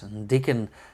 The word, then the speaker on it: Diquen: sure about that but I would say this is uh pronounced as dickon and that means uh